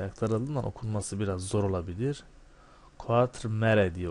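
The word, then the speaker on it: Quatremère: Quatremare diye okunuyor. Quatremare.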